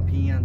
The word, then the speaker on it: 平安: てねえ januar ん沖縄では p 案という発音する品安の方